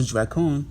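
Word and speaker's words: δράκων: Which goes into Dracon, which is the Greek pronunciation.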